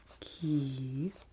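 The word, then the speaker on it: Quay: So this bag has a big Q on it, and it is from the Key Co-op. And this word, Q-U-A-Y, is pronounced key in Irish, and this bag is from a co-op in Cork City, Ireland.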